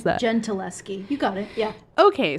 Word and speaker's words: Gentileschi: How do you pronounce that? Gentileschi.